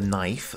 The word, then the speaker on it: knife: We have the knife with our silent K.